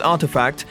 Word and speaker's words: RTFKT: Nike has announced the acquisition of digital footwear company RTFKT, pronounced Artifact, which already has a virtual shop on the Roblox platform.